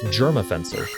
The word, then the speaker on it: Jermafenser: It's Germafencer. Little fun fact for you. Jermafenser. He just went down pretty swiftly there. Germafencer. Germs beware. Alright. Germs spelled with a J.